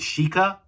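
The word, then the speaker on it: シーカー: And of course you can tell, basically, if you hear the pronunciation of Seeker, which is Shika, it can also be the Japanese word for deer, which is why this rider has a deer motif going on.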